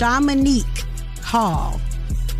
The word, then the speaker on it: Shamanique: Shamanique Hall. It's like Dominique, but it's a Shamanique.